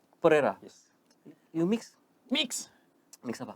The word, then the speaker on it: Pereira: So, this is Pereira. Am I pronouncing it correctly? Yes, you pronounce it better than I do. Is it? So, Yeah, Pereira. Pereira.